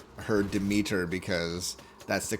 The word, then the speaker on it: Demeter: Closer, it would be closer to the Greek.